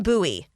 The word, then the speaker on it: Bowie: fun fact i like bowie i love the name it's just like buoy you know nice single syllable boom there it is you know people aren't from here if they say bowie bowie maryland yes yeah oh